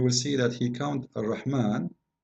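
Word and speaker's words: الرحمن: It is Ar-Rahman with alif, not without alif.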